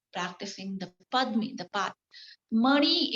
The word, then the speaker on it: Mani: Mani is the two-syllable word, Mani, okay?